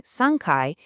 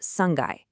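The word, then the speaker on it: 三階: Instead of saying sankai, it's actually pronounced sangai.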